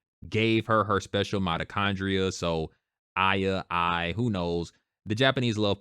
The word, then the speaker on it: Aya: As I was doing this review, Jehovah God put this in my mind that, Aya's name is pronounced Aya, and it's revealed like near the end of